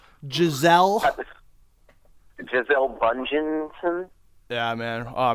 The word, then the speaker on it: Giselle: Giselle.